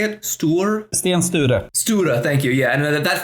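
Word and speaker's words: Sten Sture: St is that how you say it St Stan St stura thank you yeah and that family comes up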